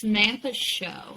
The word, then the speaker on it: Samantha Show: Just by the way, I mispronounced her. It's Samantha Show.